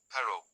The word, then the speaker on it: pero: R, rr A single r is lightly tapped, pero, while rr is rolled or trilled more strongly, perro.